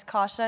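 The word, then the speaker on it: Kasia: being here today um my name is kasha it's spelled actually remarkably similar to how your name is spelled but k a s i a but it's polish um so I know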